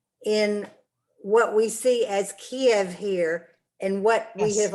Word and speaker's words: Kyiv: And Kiev es ist sowjetische Nomen für der Stadt. Aber in Ukrainian, Kyiv.